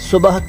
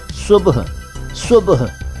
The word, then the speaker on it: सुबह: लेकिन दिल फारसी का है, ख्याल अरबी का है, सुबह अरबी का है और इसको सुबह कह देते हैं, लेकिन इसका सही उच्चारण है सुबह।